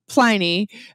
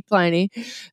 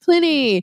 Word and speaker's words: Pliny: It is a long I with one consonant. So that is why we call it Pliny with a long I.